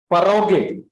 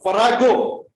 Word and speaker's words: farrago: The first what we used was paroge, parago. online. Farrago.